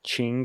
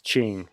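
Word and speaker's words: Qing: up the cor correct pronunciation and it's actually Ching Dynasty it's spelled q i n so I was mis mispronouncing the word but it's Ching anyway the Ching Dynasty is significantly weakened by the typing Rebellion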